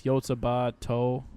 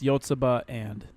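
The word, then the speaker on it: Yotsuba&!: It's Yotsuba To. I think it's pronounced To. Oh. T-O Ora- and or something. Ouran High School aired in 2006. Oh, no. Oh, it's pronounced Yotsuba and.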